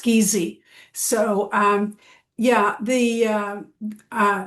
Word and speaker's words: Giese: Uh thank you and um just my last name is actually spelled uh pronounced Geezy.